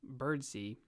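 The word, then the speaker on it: Birdseye: is actually McPherson and his middle name is actually pronounced bird C where it's spelled bird's eye but I mean come on bird's eye what an awesome middle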